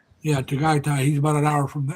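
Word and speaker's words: Tagaytay: downside of Tai or however you pronounce it." T A G A Y T A Y Dai. Yeah, Taggai.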